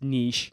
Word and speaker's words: niche: And before we continue, yes, I'm American and I say niche weird. I know it's probably more pronounced niche. It's a French word, but I pronounce it niche. It's how I've always said it, so it is what it is.